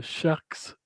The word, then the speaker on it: Sharx: se retrouve avec un groupe donc le groupe sharks sharks comment que vous prononcez sa phase avec un x d'art voilà